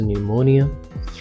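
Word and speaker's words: pneumonia: करना है नश next पिन्यू निमोनिया पी is silent actual pronunciation is निमोनिया digestion जो कि गलत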